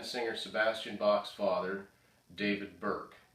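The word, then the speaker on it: Bierk: This is a painting done by then singer Sebastian Bach's father, David Burke. I think that's how you pronounce his name. It's B-I-E-R-K.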